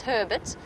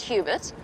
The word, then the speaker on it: Hubert: it's Hubert it's it's Herbert Herbert not Hubert obviously that's that's how he wants us to pronounce it it's slight it's spelled slightly different but he wants it pronounced Herbert well that's how he